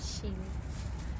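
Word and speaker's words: Kil: আমাদের প্রথম স্টেশন হচ্ছে কালস্তাদ থেকে ছাড়ার পর শিল। এখানে কের উচ্চারণটা শিল হয়।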